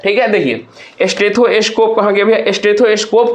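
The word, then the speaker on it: stethoscope: स्टेथोस्कोप को अगर हम लोग तोड़ते हैं तो किस प्रकार से तोड़ेंगे? एस टी ई टी एच ओ एस सी ओ पी यानी कि अगर इसमें से सलेबल पूछा तीन होगा। यहां कहां लगता है? प्राइमरी सेलेबल यानी कि फर्स्ट पे लगता है। तो इसका आंसर क्या हो जाएगा? फर्स्ट सेलेबल हो जाएगा।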